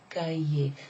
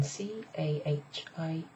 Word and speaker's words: cahier: Now, if it was just hier, it would be the word for yesterday, and it would be pronounced hier. Hier. But it's pronounced completely differently when it's got ca in front of it.